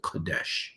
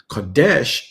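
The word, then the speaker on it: קדש: strong index H 6942 here is the pronunciation of the word Sanctified it is the word cadesh Kadesh in its primitive root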